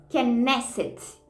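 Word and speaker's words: כנסת: Então, essa palavra, direto do original do hebraico, a raiz dessa palavra pronuncia Knesset.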